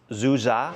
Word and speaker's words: Du Gia: It looks like Du Gia, but I think it's pronounced Zuza.